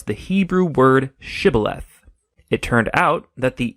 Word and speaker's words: shibboleth: and asked everybody who wanted to cross to pronounce the Hebrew word shibboleth it turned out that the ephraimites had grown up pronouncing that word differently so instead of saying shibboleth they would say sibileth when that happened the gilianite guard would execute